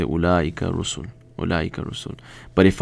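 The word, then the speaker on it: أولئك: And we know that ulaika, okay, if that's how you spell it, ulaika.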